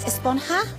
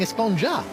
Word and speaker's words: Esponja: Grande thing has been about huh actually it's pronounced espona with an H sound at the end really but we've all been saying esponja yes I know it's been bothering me this